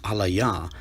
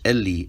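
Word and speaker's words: אֵלִי: If the word is pronounced alaya, why does this ancient transliteration render it Eli? The answer is obvious, because Eli is the actual ancient pronunciation of the word.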